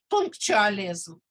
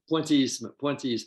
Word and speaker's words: pointillism: I mentioned in class, punctualism. The great technique of French painting. Is my pronunciation bad? Pointillism.